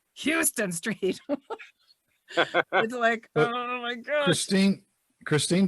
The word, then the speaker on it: Houston: village is not pretty it's spelled the same but it's Houston and you wouldn't know